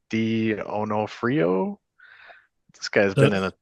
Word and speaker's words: D'Onofrio: It's like D'Onofrio. This guy's been in a ton of movies. He's been in D'Onofrio.